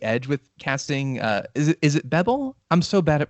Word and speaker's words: Bebel: Is it Bebel? I'm so bad at pronouncing names. This is terrible. Bebel.